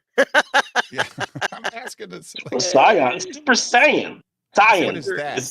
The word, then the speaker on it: Saiyan: Captain Bipto says, "What the fuck is Super Seance?" Yeah, I'm asking this. Saiyan. Super Saiyan. Saiyan. What is that? It's the correct pronunciation.